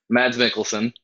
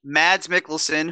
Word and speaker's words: Mads Mikkelsen: milk smell what how do you say that Mads Mikkelsen Mads Mikkelsen who is Hannibal which is one of my